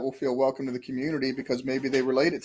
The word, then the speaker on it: Cxmmunity: And so it's Community is spelled CXMMUNITY. So instead of an O, it's an X there.